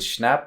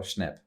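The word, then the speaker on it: Schnapp: Like I think is it Schnap or Schnep? Schnap. Schnap with an A.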